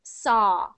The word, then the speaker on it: saw: forget about the W pretend the W is not there just pronounce s just sa a saw so there you go it's just saw just saw not so but saw saw there you go that's